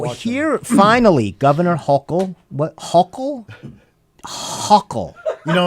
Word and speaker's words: Hochul: here, finally, Governor Hochul.